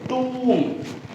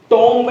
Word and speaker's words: tomb: इसे बोलते टूम, टूम, टॉम्ब नहीं बोलते हैं, बी साइलेंट.